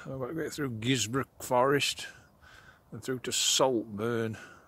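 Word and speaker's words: Guisborough: Now we're looking Gisborough, as they pronounce it in the north.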